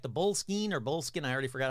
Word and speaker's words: Boleskine: That's right, the Boleskine, I already forgot how to pronounce it, I think it's Skene.